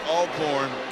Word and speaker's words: Alcorn: You know, folks at Alcorn like to say, for those who don't know how to pronounce the name, always Alcorn.